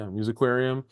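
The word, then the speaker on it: Musiquarium: Yeah, Musicarium.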